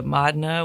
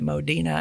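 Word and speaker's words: Modena: then we went to Madna, which I had never even heard of, and I was actually calling it Modina until someone told me how to pronounce it.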